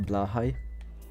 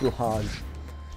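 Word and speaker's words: Blåhaj: the shark plushies the blah High I actually know how to pronounce it it's not blage if you hear someone say blage they're not a true Ikea enjoyer all right oh my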